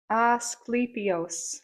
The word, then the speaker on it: Asclepius: Does it Um it's pronounced Ascle Asclepius.